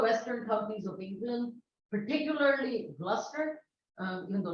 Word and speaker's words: Gloucester: some of the western companies of England particularly Gloucester uh even though it's spelled the gloss Fisher and uh known by